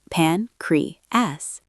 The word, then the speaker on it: pancreas: Word three pancreas Stress on the first syllable. Listen. pancreas Repeat.